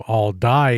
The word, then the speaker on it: Aldie: For whatever reason, throughout the video, I thought that the pronunciation was all dye and it's all D.